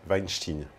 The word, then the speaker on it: Weinstein: porc harvey vine chine oui d'ailleurs ça se prononce comme ça en tout cas pour ceux qui me font des remarques la via les réseaux sociaux sur ma prononciation de leur patronyme et bien sachez que chez eux ils le prononce il le prononce comme ça enfin chez eux chez eux à hollywood alors à l'époque un